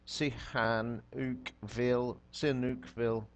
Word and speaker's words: Sihanoukville: Sihanoukville, yeah, snooky.